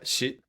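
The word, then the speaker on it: Xi: mispronouncing it but um it's president x i yeah she she is that how you spell you pronounce it yeah she she yeah she okay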